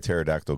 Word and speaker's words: pterodactyl: can't you hear a pterodactyl go to the bathroom I don't know cuz the p is silent nice I like that